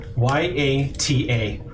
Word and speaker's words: Yata: Could you spell that? Dr. Y A T A Yata.